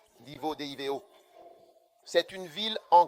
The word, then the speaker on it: Divo: Le prochain, c'est Divo. Divo, D-I-V-O.